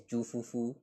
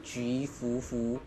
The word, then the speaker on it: Ju Fufu: Do you guys know that it's actually not supposed to read as juufu? It's actually ju Fufu. That's the Chinese pronunciation.